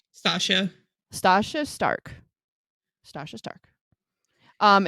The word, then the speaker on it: Stacia: cruel and Lovely by is it Stasia or Stacia s t a c i a how would you pronounce that stasha stasha Stark stasha Stark